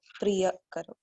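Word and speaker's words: प्रिय: breath also priya karo it's not priya karo it is a short a priya just keep these things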